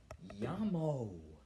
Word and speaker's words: llamo: this word that says la no no it doesn't this is llamo as in a llamo Fredrik the two L's make a why it's not that complicated